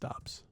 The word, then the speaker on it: Doubs: I think it's pronounced Dobbs.